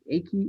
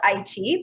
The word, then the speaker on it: Aichi: pronunciation is wrong, but the Eiki Expo World Exposition in 2005. Is that the right pronunciation, or? It's called Aichi, but pretty close.